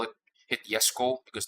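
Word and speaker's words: Jesko: Not even the upcoming Yesco event, which is weird. Just to throw people off, yes, I deliberately call it hit Yesco because that's the correct way to pronounce it according to Sweden.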